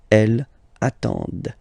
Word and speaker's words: elles attendent: So remember, you get to pronounce this, the D at the end, okay? Elles attendent, all right?